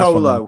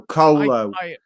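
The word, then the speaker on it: Kolo: I cannot pronounce his last name, so that's Colo. Think of it like a cola, but with instead of an A, it's an O. So Colo.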